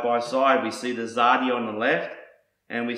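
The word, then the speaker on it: צדי: adalith and a yard and this letter is pronounced zadi it looks a little like a lowercase English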